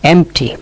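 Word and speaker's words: empty: তাই আমরা বলি সাল ওয়ার্ড হাফ মানে অর্ধ এমটি এই এমটিতে বি এর উচ্চারণ হয় না এটাও একটা সাল ওয়ার্ড শূন্য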